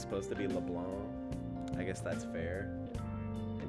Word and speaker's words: Leblanc: persona 5 streams say leblanc but it's supposed to be leblanc i guess that's fair in french it would be leblanc but like i don't